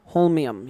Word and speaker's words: holmium: Holmium, yeah.